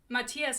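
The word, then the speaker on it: Matthias: to call him look crooked Kingdom has a pronunciation guide and Matias is in there as Matias cuz like very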